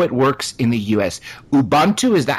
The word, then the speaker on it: Ubuntu: that and how it works in the US Ubuntu is that how you pronounce it yeah Ubuntu Ubuntu Ubuntu yeah let let's talk about the